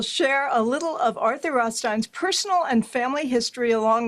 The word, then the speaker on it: Rothstein: Arthur Rothstein's father, Izzy Rodstein, actually it was changed to Rothstein. Rothstein we pronounce it is pictured here standing behind his parents, Rabbi Talisim Rostein and his wife D'vorah.